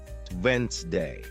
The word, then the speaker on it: Wednesday: For example, you might see the word Wednesday and think it's pronounced exactly as it's spelled, but listening teaches you it's actually pronounced Wednesday.